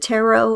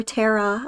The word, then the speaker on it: tarot: There's plenty of resources on YouTube, and that's if you pronounce it tarot or Tara. I don't discriminate.